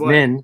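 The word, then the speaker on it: Minh: are vibrational hue my middle name is min so q min what no no truman and it rhymes with truman mbn mvn no m-i-n-h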